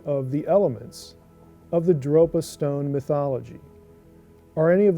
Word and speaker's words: Dropa: Sixth, the modern Dropa people, pronounced locally as Drok-Pa, who are small and weak, are allegedly descendants of these unions.